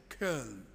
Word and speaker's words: Köln: I preached in Cologne about 4 years ago, and it's a wonderful city on the River Rhine, or as the locals say, Köln.